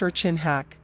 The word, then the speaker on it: Ircinrraaq: Ircinrraaq, pronounced Ircinrraaq, is an Inuit word used when describing any